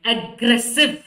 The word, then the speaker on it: aggressive: ಇದು ಕೂಡ and pronunciation ನೋಡಿ, aggressive, aggressive ಅಲ್ವಾ, aggressive. ಸೊ ಈಗೇನಾಗುತ್ತೆ, ಅಗ್ರೆಸಿವ್ ಅಂತ ಗ ಅನ್ನೋ ಪದನ ನಾವು ಜಾಸ್ತಿ ಸ್ಟ್ರೆಚ್ ಮಾಡ್ತಾ ಇದ್ದೀನಿ, ಮತ್ತೆ ಸ ಕೂಡ ಸ್ಟ್ರೆಚ್ ಆಗಿದೆ ಅಲ್ವಾ, ಸ್ಟ್ರೆಸ್ ಆಗಿದೆ.